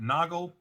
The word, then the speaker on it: Noggle: For SolarWinds, Erik Boemanns and Heather Noggle. Rhymes with goggle, and bailiff Manning Sweatland.